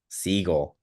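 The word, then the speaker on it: Siegel: you say his last seagull like the bird missing on all the guesses yeah Nolan seagull um don't know too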